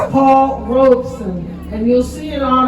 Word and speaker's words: Paul Robeson: And I emphasize that because many people mispronounce it, but it is Paul Robeson.